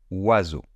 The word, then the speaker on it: oiseau: C'est un peu comme avoir le son OU suivi du son A.